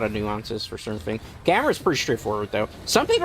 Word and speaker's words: Gamera: Some people will call him Gamera because of the English dubs from the past. You watch a Japanese film, it's usually Gamera. So I usually lean towards the Japanese pronunciation of it.